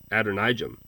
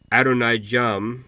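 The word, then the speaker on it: Adonijah: I think his name was Adonijam. Adonijam, you would have pronounced it Adonijam. Yam was the Ugaritic sea god. Adonijam, or Adonijam, means Yam is Lord.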